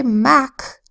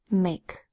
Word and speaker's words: make: a okay that says we don't want this to say Mack so we add a silent final E which signals to readers that this is a long a mmm a make and we've worked with